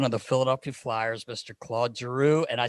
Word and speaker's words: Claude Giroux: 28 the captain of the philadelphia flyers mr claude giroux and i said it right not like clarky